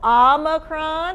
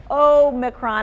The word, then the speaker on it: Omicron: Well, apparently, both ways are acceptable. Omicron or Omicron.